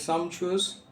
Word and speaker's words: sumptuous: the word Sumptuous right so let me pronounce it once again is some choose okay that means very